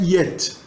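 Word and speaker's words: етт: A palavra vaca é yet. Na verdade, o tchetcheno escreve, na ortografia tchetchena escreve-se et apenas, mas se fala yet.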